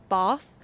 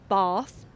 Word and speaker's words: Bath: If you are posh, you will pronounce this city as Bath. Bath like this. And if you are from the countryside in this area, if you are from the countryside, you will say bath like this bath.